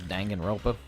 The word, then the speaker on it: Danganronpa: what that is oh I didn't even say it right this Danganronpa digging ronpa ronpa Dan